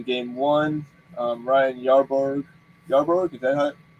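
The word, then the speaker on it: Yarbrough: versus montage in game one um ryan yarborough yarborough did that pronounce that correctly yeah bro yeah bro um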